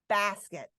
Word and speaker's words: basket: Basket. But listen is how I say that second syllable. I barely even announce any vowel sound.